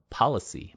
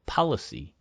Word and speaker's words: policy: 우리가 policy 이거를 policy, 팔러 정도로 policy, policy 이렇게 되지. policy 이렇게 발음하지 않습니다.